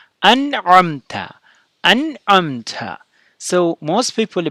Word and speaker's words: أنعمت: among the Muslims that most people say ana amta. So it's not fatha, it's not kasra, nun is a sukun here. So it should be an'amta.